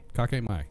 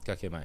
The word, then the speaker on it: kakemai: K-A-K-E? Is that, am I pronouncing that right? Kikmai. Those are the K-A-K-E is kake. Kakemai. Kakemai.